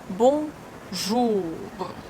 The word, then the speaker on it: bonjour: Bonjour. Bonjour. When you pronounce ou, you push your tongue back.